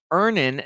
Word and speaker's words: Earnin: with my rent well download earning today it's spelled e a n i n you can download earnin